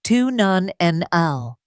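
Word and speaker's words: 2-nonenal: As we age, our bodies begin to produce a compound called two nonenal, pronounced tun non nl.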